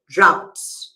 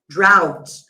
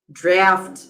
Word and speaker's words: drought: So I'm going to write drought. Yes guys, the pronunciation of this word is drought. Believe it or not, I I've seen a lot of people saying draft, but no, this is drought sa drought.